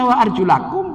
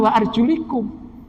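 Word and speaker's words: وَأَرْجُلَكُمْ: itu dibacanya apa ketika dibaca WA arjulakum berarti atohnya kepada fangsir Mestinya kan kalau yang paling dekat mestinya dibacanya wa arjulikum akibat beda baca ada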